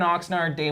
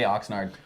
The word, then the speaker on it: Oxnard: it in my voice is it Oxnard is it nard or nerd I think it's boots how do you say Oxnard Oxnard oard that's do so we're saying it right yeah it's the yeah